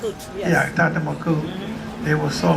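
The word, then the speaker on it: Tonton Macoute: Am I pronouncing that right? Yes. Yeah, Tantamaku.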